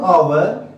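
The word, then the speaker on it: hour: Just as our, our, when we pronounce our, it is a vowel, and because H is silent here, यहाँ पे H जो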